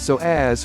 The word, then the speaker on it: psoas: It's often called the mighty psoas, pronounced so as for the many important functions it plays in the movement of your body.